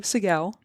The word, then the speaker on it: Seguel: Andrew Siguel. That's correct. On LinkedIn, amazing pronunciation.